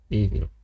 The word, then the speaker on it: Evil: Evil. Trzeba to pamiętać. To tak się wymawia. Evil.